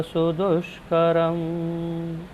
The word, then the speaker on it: सुदुष्करम्: दुष्करम, दुष्करम नहीं है, सुदुष्करम है। श है, श, दुष्करम।